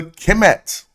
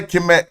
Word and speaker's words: Kmt: only the only words to be pronounced is the kimt you don't say kimet k as we see